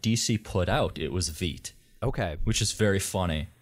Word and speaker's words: Veidt: I've been saying it wrong for years, I realized, on HBO Watchmen. No, it's Veidt.